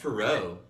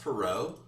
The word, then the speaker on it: Perot: never had a chance Ross Perot yapper out like with a silent t that's like so French it's American though it's